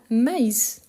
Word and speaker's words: maïs: vient de voir mais on a maïs donc ça s'écrit c'est proche pourtant à cause du trèain on doit bien prononcer le I du coup mais c'est